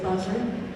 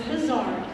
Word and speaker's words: Bizarre: Is it Buzzard? It's Bizarre.